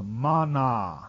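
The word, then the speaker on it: מָנָה: The word in the Hebrew is pronounced mana, a prime root to weigh out by implying a lot or constitute officially.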